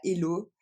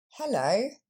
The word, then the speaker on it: hello: Et donc c'est pas hello, mais bien hello. Et donc on voit que l'accent tombe sur la deuxième syllabe, le lo. Ce E, c'est le même son qu'on a dans no ou show. Et le premier son, c'est le son H.